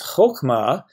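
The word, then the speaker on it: חָכְמָה: That would be the short o kametz, chokma, which is also a word.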